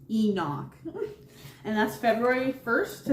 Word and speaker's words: Imbolc: So our next season that we have coming up is, well, it's spelled IMBOLC, but it's pronounced Enoch.